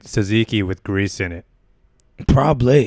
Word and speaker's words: tzatziki: Tzatziki. Yeah. It's like yogurt sauce. Yeah, that's a good sauce. But this stuff in this ketchup bottle they're squirting, what is that? Well, it's like tzatziki with grease in it.